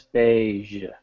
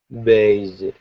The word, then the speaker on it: beige: Be beige beig yeah it's a very soft G it's not beige it's beige beige much better well done